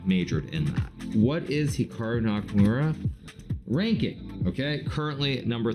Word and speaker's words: Hikaru: nakur now even myself when I pronounce my name it's definitely more Americanized versus Japanese certainly if I was pronouncing it correctly it would be more like Hikaru as opposed to Hikaru but I've spent so